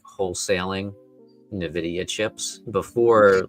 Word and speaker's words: Nvidia: Um, the correct way to pronounce it is actually Nvidia. Yeah, here it is. Novidia is incorrect. Nvidia.